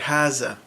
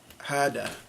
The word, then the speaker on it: هذا: haza, because they'll replace the dal with the Z sound, so you get haza. And they do this especially in the Levant, which is, like Syria, Lebanon, Palestine. And then also, you'll hear them say it like this. Hada. Hada with a D. Hada. So that I hear a lot more in Saudi Arabia, but I've also heard it from, some Iraqis, some Jordanians, and other people on the Arab Peninsula.